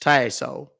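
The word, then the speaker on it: Tssohl: s o h l it's pronounced taso it's French okay M okay Mr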